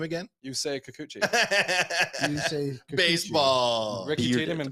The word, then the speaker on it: Yusei Kikuchi: Yusei Kikuchi.